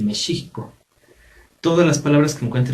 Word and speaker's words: México: sobran por ejemplo entonces la pronunciación de la equis actualmente pues se pronuncia como jota pero tiene más bien un sonido de sh o sea desde decir méxico tendríamos que decir mi chico todas las palabras que